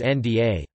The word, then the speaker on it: ᬦ᭄ᬤ: For example, if the letter na is appended with gantungan da, the pronunciation becomes nda.